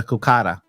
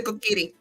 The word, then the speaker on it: Kokiri: the Kukara. No, it's the Kokiri.